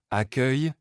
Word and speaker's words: accueil: En français, les mots se terminant par œil ou œil ont une prononciation particulière, où la terminaison produit un léger son i, j. Écureuil, l'écureuil grimpe à l'arbre. Accueil, l'accueil à l'hôtel était chaleureux.